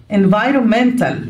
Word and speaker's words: environment: بيئي environmental. في كلمة environment بيئة مش بننطق الأو.